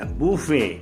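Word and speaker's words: buffet: வந்து மொஜிட்டோன்னுவாங்க மோகிட்டோ நம்ம சாப்பிடுவோம் இல்லையா அத பபேன்னுவாங்க பூபே பாதாம் பருப்பு இருக்குல்ல அதை ஆல்மண்ட்ன்னுவாங்க ஆல்மண்ட் நம்ம பேக்கரி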